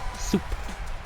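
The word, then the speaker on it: суп: speech on duolingo pronounces the russian word for soup because it's just soup so like if you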